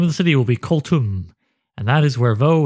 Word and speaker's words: Koltum: it tom koltum colton well i can decide how it's pronounced cold tum yes the name will be koltum which also sounds vaguely